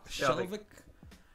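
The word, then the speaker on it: Skjelvik: Shelvick.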